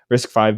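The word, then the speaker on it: RISC-V: new risk five boards or risk V I don't know actually how you say it but I think it's five yeah is it five okay risk five boards and stuff too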